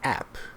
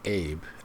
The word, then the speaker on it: app: It's app, not abe, app.